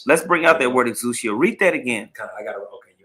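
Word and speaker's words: ἐξουσία: Now, particularly in this verse, the word power in the Greek, that's pronounced exousia.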